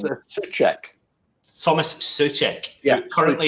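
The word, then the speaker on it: Souček: So the player in question is, now you've got to help me out with the pronunciation here, Alf. Yeah, it's Soucek. Tomas Soucek. Yeah, currently. Soucek.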